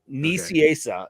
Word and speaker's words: Nicieza: He'll is that how you say his name? Yeah, Nicieza is how he says.